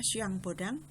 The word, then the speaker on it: Jean Bodin: yang bodang sekarang karo bahasa Perancis buka afshin Pudin tulisannya ya membacanya siang bodang atau Jean Bodin membagi kedaulatan menjadi empat